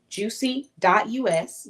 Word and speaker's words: Jusy: This is Jusy. US Juicy us, but it's spelled Jusy.